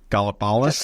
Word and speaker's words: Gallipolis: a very similar place, and I'm going to pronounce it wrong. Gallipolis?